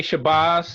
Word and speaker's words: Shabazz: I say Shabazz. That's the original pronunciation. Some people say it the other way because they think it rhymes with jazz, but it's the ah sound.